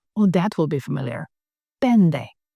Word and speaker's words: πέντε: Pende. Pende. With ni, taf, nt, pronounced as nd.